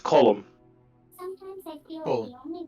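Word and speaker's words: Colm: That's the Irish pronunciation of the name. Most Americans mainly in America say Cole because that's what they think of is when they first see it, but it's pronounced column.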